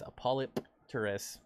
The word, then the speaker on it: Polypterus: are you sending my polypterus somebody yelled at me they said the the correct way to say biker is apollopterus is that a really